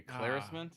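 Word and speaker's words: éclaircissement: Eclaircissement is how I guess I would say eclaircissement. And then she says Eclaircissement. He's missing a syllable.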